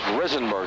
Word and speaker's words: Risenberg: It is Risenberg, the correct pronunciation.